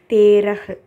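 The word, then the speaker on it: तेरह: அடுத்து தேரஹ், தாவோட ஏ சிம்பல் இருக்குது, ரஹ் தேரஹ் அப்படின்னா 13. இதில் நல்லா பார்த்தீங்கன்னா ஹாலேயே வந்து எல்லாமே ஃபினிஷ் ஆகிருக்கும்.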